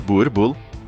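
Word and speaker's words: Boerboel: O Boel, pronunciado Burbull.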